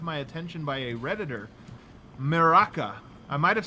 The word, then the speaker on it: merak: But another Serbian word that was brought to my attention by a Redditor, meraka. I might have said this wrong. Do you know this word, meraka?